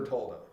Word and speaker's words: Bertoldo: You gotta say it like you're Italian, but yeah, Say it, Bertoldo. give us a. Bertoldo. Oh, that's. Then it's easy. When you say it American, it's hard.